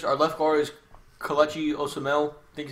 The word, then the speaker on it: Osemele: Our left guard is Kelechi Osemele. I think how you say his name. Kelechi Osemele. Osemele, there you go.